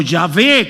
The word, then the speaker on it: Yahvé: Bueno, el guerrero es Jehová o Yahvé, como se puede pronunciar también ese nombre.